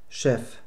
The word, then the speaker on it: Chef: In Wörtern aus dem Französischen wird das CH wie das deutsche SCH, also SCH, ausgesprochen. Beispiele hierfür sind Champagner, Champignon, Chance, Chef.